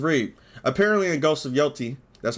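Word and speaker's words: Yōtei: Apparently in Ghost of Yotei, that's how you say it, a progressive activist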